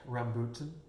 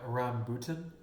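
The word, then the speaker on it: rambutan: How do you pronounce it? Rambuntan. Say it louder. Rambuntan.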